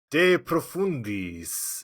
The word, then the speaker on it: De Profundis: Today, Mark, we're going to be discussing Oscar Wilde's seminal text, De Profundis. Is that how you pronounce that? Profundis? Sounds okay to me. Means from the depths.